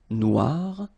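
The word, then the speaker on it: noire: So it's quite funny because you will have to add this uh at the end of noir for the feminine form but then you don't pronounce it. Okay. So phonetically it is exactly the same noir.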